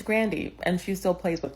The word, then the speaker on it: Grande: music artist is like an intentional mispronunciation of her last name so that she gets confused with or sounds like she's Latina when she's not. She's Italian, she's white. It's Grandy, and she still plays with that, which is insane.